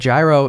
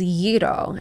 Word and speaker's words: gyro: you said gyro so I'm saying gyro but gyro isn't technically the the right pronunciation correct that is correct so the correct pronunciation is yido and that is because in Greek the word